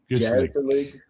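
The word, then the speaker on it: gezellig: Gazelig uh pronounced with a soft G. Gilik.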